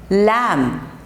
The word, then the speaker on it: lamb: at all no bur sound okay this sound is silent okay next is num set num num climb climb climb not climb climb lamb lam next is bread crumb bread crumb bread